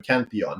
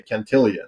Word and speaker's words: Cantillon: your your mentioning of canthon his name is canthon and Bitcoin is say cantillon like billion really yeah English speaking